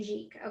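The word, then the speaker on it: Jikh: i i highly recommend andrei jeep too so that's spelled j-i-h-k andrei jike okay so that's someone else that you might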